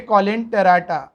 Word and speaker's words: Coelenterata: और ये कॉलेन टेराटा, ठीक है, कुछ टीचर्स को कॉलेन टरेटा भी कहते हैं, एक्सेट्रा एक्सेट्रा।